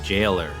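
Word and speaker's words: gaoler: carer carair um g a o l e r I think it's pronounced Jer like you know J a i l e r I have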